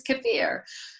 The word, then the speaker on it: kefir: originated, and he's like, it's not kefir, Mom, it's kefir.